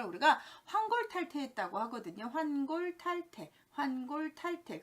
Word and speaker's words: 환골탈태: 환골탈태. 그런데 왠지 탈태라는 발음이 환골탈퇴가 돼서 환골탈퇴 이렇게 하는데요.